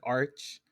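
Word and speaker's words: Archmage: go okay it says most people pronounce it like Arch while some others pronounce it like Arc because it's like arc angel oh true so she's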